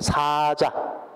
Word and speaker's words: 사자: 그래서 길게 발음해야 되죠. 라이언은 짧게 발음해야 되지. 사자. 이거는 죽은 사람이니까 사자.